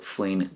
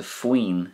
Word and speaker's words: faoin: So we don't say faoi on because that wouldn't be correct. We put faoi and on together, and together they make, I suppose you call it a new word called faoin. Faoin. It's easier to say and it makes for a more flowing conversation.